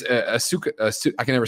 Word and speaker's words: Asuka: Like, she says it, and then it's Asuka. I can never say her name. Asuka, thank you.